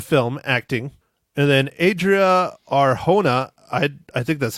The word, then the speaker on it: Arjona: And then Adria Arjona, I think that's how you pronounce it. Adria, it's Jona, but I'm pretty sure it's H. Arjona.